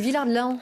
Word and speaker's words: Villard-de-Lans: à Villars, vous voyez, je prononce le Lens, parce que je suis pyrénéenne, je prononce toutes les lettres. Nous, on dit Villard-de-Lans.